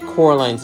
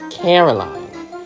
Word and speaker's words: Coraline: upstairs both of them get Coraline's name wrong calling her Caroline and I know that